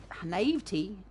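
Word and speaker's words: naïveté: by her youthful naivete how do you pronounce that in english because that's actually a french word and i would pronounce this navit but naivety okay and the fact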